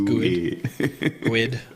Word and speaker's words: GUID: Chris says GUID. GUID. You don't like GUID? Rhymes with squid.